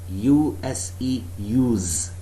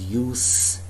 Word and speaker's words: use: When it is a noun, there is a different way to pronounce the word, and when it is a verb, there is a different way to pronounce the verb.